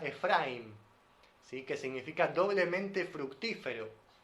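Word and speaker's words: אפרים: de Naciones Efraín o en hebreo que se pronuncia Efraín sí que significa doblemente fructífero y de ahí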